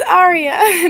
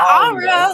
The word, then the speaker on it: Arya: How you pronounce something Ara? It's Arya, not Ara like from boys.